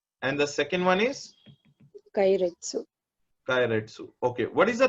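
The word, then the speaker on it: keiretsu: Mm, It is known as Kairetsu. What is the name of the business? Kairetsu. Kairetsu. It's a Japanese word.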